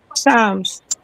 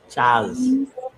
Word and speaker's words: Charms: Charms. Chaz. Chaz? Charms. Charms. Charms. Like Lucky Charms.